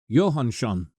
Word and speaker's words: Johannsson: When you see that double S-O-N at the end, it's shun, like SH sound in English. Ingi Randver Johannsson.